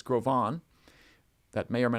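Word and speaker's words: Gros Ventre: mispronounced in times past it's a French name it's not gross Venture it's grovan that may or may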